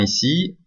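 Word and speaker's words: 一: Donc 1 c'est I en chinois, et ça s'écrit avec une barre, et 2 ça se dit R, et ça se traduit avec 2 barres.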